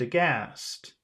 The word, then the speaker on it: aghast: They They looked aghast. they looked the gas. Muhammad, can you say that word? Aghast. Aghast. Ag- Aghast. That's ah. That's short and then long.